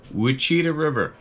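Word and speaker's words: Ouachita: located down by the I think I've pronounced this wrong in the past U River U wi river wiita river sorry o UI c h t a river one time they're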